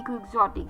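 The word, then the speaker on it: quixotic: क्यू यू आई एक्स ओ टी आई सी क्वग्जोटिक यानी कि एक एडजेक्टिव है जिसका मतलब मैंने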